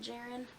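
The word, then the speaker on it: Jahren: girl by hope jaren i think i'm saying her last name right i listened to this on audiobook and the author narrates it and she pronounces it jaren so that's that's what we're going with unless i like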